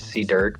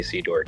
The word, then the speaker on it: cduerk: you you could so how you pronounce it is C Durk but a lot of people say C dork it's okay it's okay